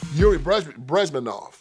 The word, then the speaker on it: Bezmenov: This guy by the name of Yuri Bezmenov. Last name is spelled B-E-Z-M-E-N-N-O-V.